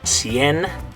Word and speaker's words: cien: Back to a soft C though, because it's followed by an I. Okay, so the way you're going to say this one is cien.